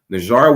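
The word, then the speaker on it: Nijjar: So on September 19, 2023, progressive conservative leader Pierre Poilievre accidentally mispronounced Hardeep Singh Najjar's last name. Najjar was a Sikh leader gunned down in Surrey, British Columbia earlier this summer.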